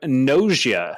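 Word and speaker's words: Gnosia: future yeah you can pick up nausia i think that's how you'd pronounce it g-n-o-s-i-a for the nintendo switch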